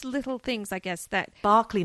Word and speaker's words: Berkeley: Berkeley, not Berkeley.